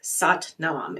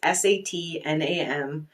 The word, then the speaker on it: Sat Nam: And the phrase I like from Kundalini Yoga that's very simple is Sat Nam. It's Satnam. It's pronounced Sat Nam.